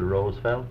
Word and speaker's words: Roosevelt: you used the uh republican pronunciation of theodore roosevelt is theodore roosevelt not roosevelt franklin pronounced the rose felt teddy pronounced it roosevelt governor i'm interested in your